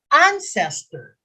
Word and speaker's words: ancestor: is ancestor that uh the accent is on the first syllable not ancestor 47 complete